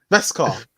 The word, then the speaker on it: Beskar: Beskar. I can't pronounce it. Beskar. Beskar. Yeah, It's as like in like KSI best, with the word mural. sort of like best car.